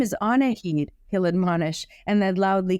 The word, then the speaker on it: Annahid: Oh, Annahid, she says, She doesn't get any further because Coda comes out and carefully yet confidently interrupts her. Actually, my mom's name is pronounced Annahid.